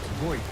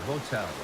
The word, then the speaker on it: Votel: Joseph Votel, yeah? Yeah, Votel, right, you got it.